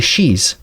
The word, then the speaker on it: Sidhe: underground through what are called the Shis. This is spelled Sidhes.